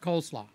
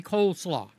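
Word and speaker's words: coleslaw: is Cole okay so it's supposed to be cole slaw but with the slurring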